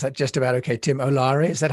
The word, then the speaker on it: Olaore: Tim Olaore, is that how I pronounce it?